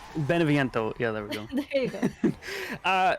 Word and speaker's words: Beneviento: even gonna try to pronounce that can you pronounce it for me wait what benifiento beneviento yeah there we go uh this is kind